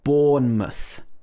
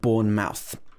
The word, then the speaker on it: Bournemouth: also by the sea it's pronounced bournemouth not born mouth number seven is similar